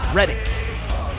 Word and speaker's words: Reddick: I've messed up in the past on the pronunciation of his name. It's Reddick.